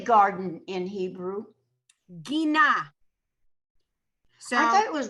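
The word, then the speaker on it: גינה: Gina.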